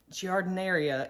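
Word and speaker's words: giardiniera: few different times and jardineria is the way that you're supposed to say it so let's take a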